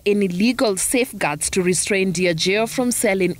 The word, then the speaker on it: Diageo: All these monies are taken to Diageo, that's how you pronounce it.